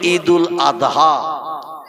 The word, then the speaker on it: ঈদুল আযহা: বলে ঈদুল আযহা কি বলে মানে জয় অক্ষর উচ্চারণের মত আওয়াজ করে বলে আমরা বলি ঈদুল আদা কোরবানির ঈদ জোরে বলি একটু সুবহানাল্লাহ এই ঈদুল